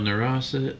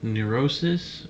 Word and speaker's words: neurosis: blah blah blah uh mild neurosa Neurosis is how you say that neurosis and disability is not